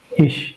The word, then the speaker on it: ich: So the first word ICH, this is pronounced as Ish. ish.